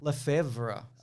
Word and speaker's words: Lefevre: So Victoria was originally played by Rachel Lefevre, which is exactly how you say it.